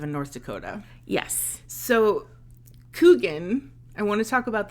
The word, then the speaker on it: Kuchen: is it you are kugan a lot of people want to pronounce it coochin or kin but I've always heard it pronounced cougan even though it does have a CH in the middle love it cuz that's